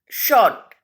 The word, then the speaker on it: short: In first one, short. Short में R is silent. Which letter is silent? R. जब उसको pronunciate करते हैं बेटा तो हम शॉर्ट बोलते हैं. R की साउंड पूरी तरह से नहीं आती है.